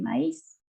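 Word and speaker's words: maïs: Esta S sí la pronuncio por la naturaleza de la palabra. Le maíz. Maíz. En español. Maíz. Le maíz. Cuando ustedes tienen la diéresis en la vocal, se la debe pronunciar tal cual la vocal.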